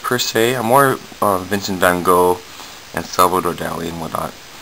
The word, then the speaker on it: Van Gogh: Scottish word Lo okay okay so it says funu Haw funu Hawk um I'm assuming that's how you say it